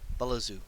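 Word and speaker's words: Bulezau: Balazu is the correct pronunciation.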